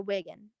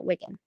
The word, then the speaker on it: Wigan: say it it's like lead okay okay so wiggin yeah wiggin okay cool um hold up one moment i'm